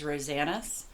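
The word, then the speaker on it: Rosanes: uh Kirby rosanas which I found out to pronounce this last name is rosanas um I watched a video of his and he pronounced his name that way uh love this book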